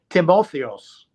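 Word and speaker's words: Τιμόθεος: Well, in Greece for sure, there's a version of Timothy, and it's pronounced, I think, kind of two ways. I've heard it because some of my very good friends in Greece call me by my Greek name of Timothy, and it's Timotheos.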